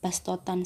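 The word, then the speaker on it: بصطة: Namun dalam ayat ini bastotan sendiri dibaca sin menjadi bastotan.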